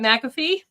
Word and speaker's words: McAffee: McAfee.